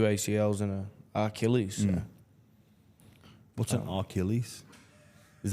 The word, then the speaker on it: Achilles: It's not ARC. It's not Achilles. It's Achilles. Achilles. Yeah. I don't know that. You learn something. Achilles. There's no R in Achilles. Dance. Arc. Achilles.